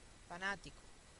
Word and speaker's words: fanático: Fanático, 1, 2, 3.